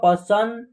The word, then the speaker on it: पसंद: यहाँ इनका उच्चारण आधा न के रूप में होगा पसंद।